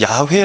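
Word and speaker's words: 야훼: 호화 라고 돼 있잖아요 여호와를 본래 발음이 뭐냐 라고 찾았을 때 야외 라고 반응했다 이제 발음을 하게 되는데 어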